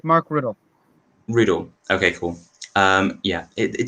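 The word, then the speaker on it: Rutte: Remind me again how to pronounce his surname. It's Mark Riddle.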